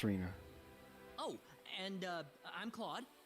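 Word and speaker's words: Rena: I haven't introduced myself my name is Rayna that's not it's Rina oh and uh I'm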